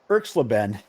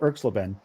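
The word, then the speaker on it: Erxleben: will get somebody will win all right Russell klen his name is spelled e RX l e BN so we're gonna call Russell klen was a three-time All-American at Texas and he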